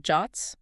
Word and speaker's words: JWT: Then there are JSON web tokens or JWTs pronounced JOTS.